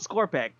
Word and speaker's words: Skorpekh: You got it 100% correctly. It's spelled Skorpek, like SKORPEKH.